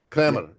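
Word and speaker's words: Kremer: there was this man his name was Carl Kramer so he's Canadian but he had a German name right Carl with a k k a r l Kramer k r e m e r Kramer German uh pronunciation right and he was a very successful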